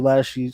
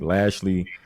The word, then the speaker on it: Lashley: you that yeah no i gotta say it like lashley like like you guys